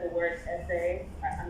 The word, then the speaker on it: ese: for the ancestors, and it said the word essay. I'm not sure how to pronounce it.